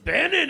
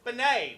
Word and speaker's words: Bennett: stuff and uh and my last name is Bennett which you guys you Americans like to pronounce as Benet which uh is it's